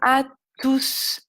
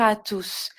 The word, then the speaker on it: tous: je vais dire bonjour à tous là je vais prononcer le s bonjour à tous mais s'il est suivi